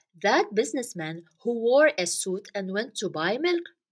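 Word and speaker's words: süt: know that in Turkish the word milk means suit yes suit this is how we say it so abys businessman wore a suit and went to buy milk milk is suit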